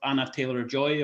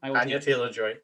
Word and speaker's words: Anya Taylor-Joy: I'm a lover of Anna Taylor-Joy or Joy Taylor. Which way around do you say her name? Anya Taylor-Joy.